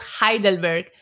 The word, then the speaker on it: Heidelberg: like EU or there's a place called Heidelberg that but it's written down h-e-i right yeah and you say hi that word like I and so I would